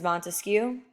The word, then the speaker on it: Montesquieu: is Baron de Montesquieu we will refer to him as Montesquieu it rhymes with barbecue that's how you can remember him he believed in the